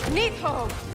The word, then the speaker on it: Níðhögg: I'll keep referring to it as monster, dragon, or her because her name is pronounced like this. Nidhogg!